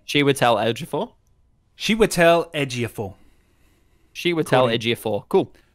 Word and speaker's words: Chiwetel Ejiofor: you actually pronounce his name how do we pronounce like Chantal I was before Chiwetel Ejiofor chiwetel ejiofor apparently she would tell LG for she would tell Ejiofor she would tell Ejiofor cool sorry dan I